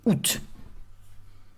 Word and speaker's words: août: Juillet, août, written with a lot of letters that you do not pronounce, A-O-U-T, accent circonflexe, and in the end you just say août.